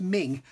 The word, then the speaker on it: Meng: doing this at the end um um they're pronounced ming beautiful model kits generally um 35th scale modern